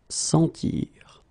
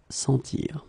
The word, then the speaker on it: sentir: In many situations, when you practice on your own and when you try to reach this sound, try to make the sound longer, okay, and try to insist.